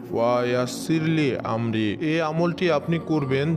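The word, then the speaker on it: وَيَسِّرْ لِي أَمْرِي: আপনারা ভিডিও স্ক্রিনের উপরে দেখতে পাচ্ছেন পবিত্র কোরআনের সূরা তহার 26 নম্বর আয়াতের একটি অংশ, এটির উচ্চারণ হবে ওয়া ইয়াসিরলি আমরি, ওয়া ইয়াসিরলি আমরি।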